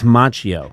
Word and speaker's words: Macchio: It's Macchio. In fact, the CH makes a hard C sound like Pinocchio.